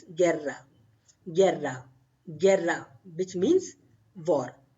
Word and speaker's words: guerra: So you will silent this U and you will pronounce this guerra.